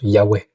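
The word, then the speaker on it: Yahvé: Dans la kabale, c'est la shquina, la présence féminine de Dieu qui s'unit au tétragramme Yhwh qu'on prononce Yahé.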